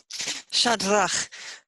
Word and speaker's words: Shadrach: Shadrach, 2 syllables, shad and rach.